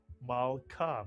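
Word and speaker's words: מַלְכָּה: What would the first syllable be? Mal is correct. The shva under the lamed tells you to add the lamed to the preceding letter and vowel. Ma to make the entire syllable mal. And the second syllable, ka, mitsuyan. That's a kaf with a patach and a hey. Put the word together, malka, mitsuyan.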